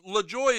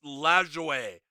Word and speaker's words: Lajoie: you yeah a lot Lajoie is the it would be the common way to pronounce it yeah less waz the same thing did I see eight men out probably forever ago it's it's lazar way so it's like it's